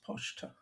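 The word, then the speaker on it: почта: They use the Greek pi for the letter P, and so this funky-looking thing that looks almost like a Y is pronounced ch, and so that's pochta.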